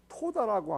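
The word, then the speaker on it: תודה: 그래서 감사는 히브리어로 토다라고 합니다. 한번 따라해 볼까요? 토다. 여러분이 이때 한번 발음을 해봐야 히브리어 한번 해보죠.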